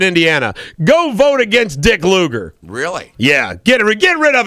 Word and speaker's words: Lugar: Yeah, and I keep hearing all the stuff about Lugar, and they keep pronouncing it Lugar, but Lugar.